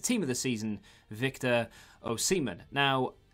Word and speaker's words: Osimhen: of the season victor o'seaman now his name is apparently pronounced oh seaman even though a lot of people say osaman o simmon and and whatever i've